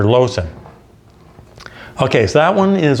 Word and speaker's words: Loosen: it'll be more plain this is dr lowson uh spelled with two l's most people say loosen dr loosen but it's dr lowson okay so that one